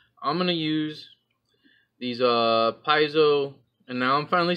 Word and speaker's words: Paizo: But what we're going to do, I'm going to use these Paizo, and now I'm finally saying it right.